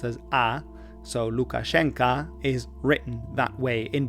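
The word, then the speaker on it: Lukashenka: unscrupulous character goes by the name of Alexander Lucashanka. Haven't heard that name in a while. Really was a pseudonym sometimes used by a rival of mine. A total brat. Alexander Lucashenko or Alexander Lucasena.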